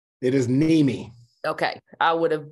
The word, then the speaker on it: Niemi: each other in your last name it is Mimi okay I would have butchered it so I understand everybody does if